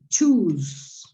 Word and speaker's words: choose: The second one, the pronunciation of the second one is like choose. Choose. Es como si tuviera una T al comienzo, imaginaria, por supuesto.